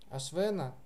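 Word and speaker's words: अश्वेन: То есть ашвена будет нормальное не, ашвена, потому что там нету никаких ша и ра перед этим.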